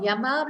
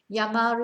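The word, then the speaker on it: llamar: is to be called yamar is to call yame yamas yamaron now the double l is pronounced yeah in spain mostly you might hear me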